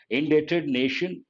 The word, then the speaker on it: indebted: a word d-e-b-t remember the letter b is silent indebted embrace of something embrace